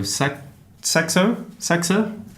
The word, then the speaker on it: Saxer: They are from the hotel Warwick Doha, and we have Saxer. Yes. That's how I pronounce it. Yes, Saxer.